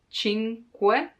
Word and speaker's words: cinque: The hardest thing to pronounce in this word is que, cinque, because there's the You have to stop a moment before adding que, because otherwise cinque, no. Cinque, take your time to pronounce it slowly, and then it will come more natural.